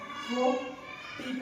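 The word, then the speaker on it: photo: अब पीएच के मतलब क्या है? फ है ये, ओ फो टी कट्टा, ओ फोटो, क्या? फोटो। पीएच से शुरू हुआ, बिगिनिंग लेटर पीएच है, फोटो।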